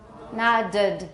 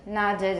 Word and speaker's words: nodded: How do you pronounce it? Nodded. Nodded is correct.